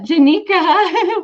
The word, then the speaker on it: Genicca: let's get her on it rhymes with Paprika Janika welcome hello hi thank